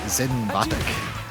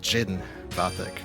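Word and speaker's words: Zin Vathek: That's where his name has actually changed pronunciation over the years. That went better than I thought. Because I remember some of the older games he was called Jin Batek, but here he's called Zin.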